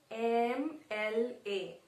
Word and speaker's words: MLA: This is starting with a consonant, but how we are pronouncing? MLA. So first what is coming? Are we saying M? No, we are saying MLA. So the first pronunciation is coming as A, then M.